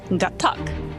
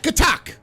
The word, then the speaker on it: Gatac: No, it's Gatac. That's Oh, Gatac. Okay. how you say it. Right. Hot cup. Gatac. Okay. So I was right. Gatac. I said it like a Klingon. It sounds like a Gatac.